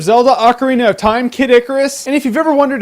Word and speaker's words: Icarus: Ocarina of Time Kid Icarus and if you've ever wondered if it's pronounced kitikaris or Kid Icarus it's Icarus Icarus thus saith the dictionary and now you know